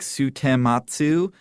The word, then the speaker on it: Sutematsu: The English speakers couldn't quite like pronounce her name correctly when they looked at it. They're like Sutematsu. And they're like, so she started spelling it Stematz so people would understand it.